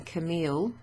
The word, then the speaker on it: Camille: So, when you've got a double L, you don't pronounce it normally le. Like the word or the name Camille. It pronounced in English Camille would be Camille. The word family, which has a double L, is famille. And it's the same here, oreille.